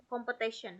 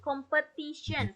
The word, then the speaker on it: competition: ya enchest kemudian saya mendengar beberapa kali competition competion harusnya competition competition he putus-putus oke cek cek Ada gak ada